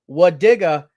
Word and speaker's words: Wadiga: Wadiga is how we pronounce that name.